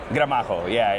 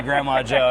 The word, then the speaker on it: Gramajo: Is it Gramajo or Gramajo? Gramajo, it's Gramajo. And then you speak a little bit of Spanish, so you can say it correctly, but there's people that'll be like, they'll call me Grandma Joe, and I'm like, that's